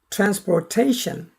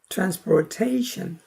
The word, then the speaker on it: transportation: 다음 transportation. 제2강세가 trans에 있고 제1강세가 tation에 있어요. 그래서 강, 중, 최고강, 약 이렇게 오르내림이 있습니다. transportation.